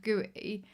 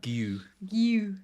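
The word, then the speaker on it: Guéhi: I had king for my cheap option instead of gooey and then it's given me a lot more money in my front three. Is that how we pronounce? I think it's like Gu. That makes more sense.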